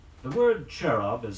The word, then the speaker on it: cherub: CH AM II leon323 Qin T the word cherub is spelled CH e ru B you've seen pictures